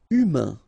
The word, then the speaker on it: humain: Humain. Remember, H doesn't exist. So, U, then A-I-N together. Un.